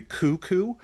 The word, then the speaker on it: Cthulhu: to be is that the actual proper pronunciation of Cthulhu is actually cuckoo uh because the it's supposed to be like this language that isn't meant for human mouths and it's mostly supposed